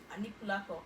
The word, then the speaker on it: Anikulapo: Anikulapo. Okay. Okay, Oh, alright. not Putti, obviously. Yes. Sorry. Okay, alright. So now, I don't know if you actually remember this Yoruba movie, Anikulapo.